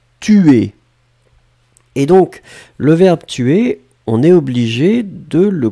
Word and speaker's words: tue: Et donc, le verbe tuer, on est obligé de le conjuguer. On va conjuguer le verbe tuer à la troisième personne. Tu. Donc on écrit T-U-E, mais finalement on prononce tu.